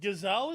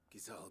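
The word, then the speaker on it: Gysahl: gazal greens for a few years at least gazal is how you pronounce it gazelle greens oh wow I've been pronouncing it like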